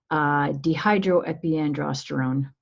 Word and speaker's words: dehydroepiandrosterone: you release something called DHEA I'm going to pronounce that for you just because it's fun dehydroepiandrosterone that word had like 62 characters so that